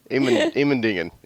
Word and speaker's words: Immendingen: to the German and ask, How do you pronounce this again? How do you say this? Immendingen? Immendingen.